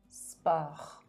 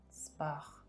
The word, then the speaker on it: sport: fait trop sirop drap thé eau tarot sot sport R is the last sound. sport Good.